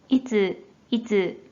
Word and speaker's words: 逸: 자, 이 한자 뜻으로는 발음이 없고 음으로만 いつ 라고 발음해줘요.